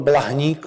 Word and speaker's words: Blahnik: cruz de la palma manolo blahnik bueno el baník como lo pronunciamos nosotros es hijo de un